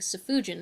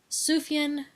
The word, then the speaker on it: Sufjan: poor guy's name i' had been saying saujan as if there was an extra U when it is in fact sufian with the J pronounced as a y sufian not safuan with that